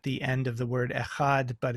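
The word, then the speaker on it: אחד: end of the word echad but it's pronounced almost like like tav is sometimes written which is a the th in the word the so it's a th sound but but that's vocalized so it's a sound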